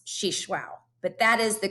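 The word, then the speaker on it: Xixuaú: took me a while to learn how to pronounce she shwao but that is the correct way to pronounce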